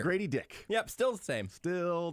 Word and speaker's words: Dick: any actually nope because if it's just DIC there's no uh vowel after that c that's going to be pronounced uh it's like a Bic lighter Grady dick yep still the same